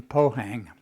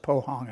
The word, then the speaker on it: Pohang: You pronounce it Pohang, I guess.